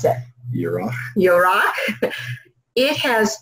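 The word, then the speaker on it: ירח: In the Strongs, 3391, and the Hebrew is, how do you pronounce it? Yorach.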